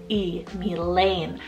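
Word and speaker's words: Milayne: way but it's the name milane fell m-i-l-a-y-n-e me Lane I like to kind of like Mila sound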